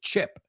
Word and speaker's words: chip: The first word is chip. Chip. Eh. The vowel sound. Eh. Eh. No es E. It's eh. Eh. Chip.